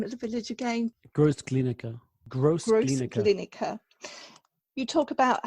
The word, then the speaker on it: Großglienicke: You talk about, I'm so poor with my pronunciation. What's the name of the village again? Großglienicke.